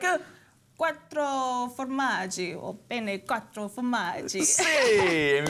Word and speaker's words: quattro formaggi: in really telling you say it like a Quattro formaggio Bennett Quattro formaggi hey you've got valley joining